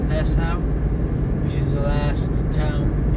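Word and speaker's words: Passau: I think it's pronounced Pasau, which is the last town in Germany before Austria.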